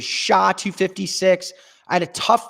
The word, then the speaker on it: SHA: hashing for 5,000 SATs sha 256 Dave I can't give that to you Dylan that's the a the af1 reman afran someone said hash 256 and that is not true it is sha 256 I had a